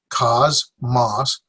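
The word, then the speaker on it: κόσμος: Cosmos, 1, 2 syllables. Cosmos, accent here. Cosmos.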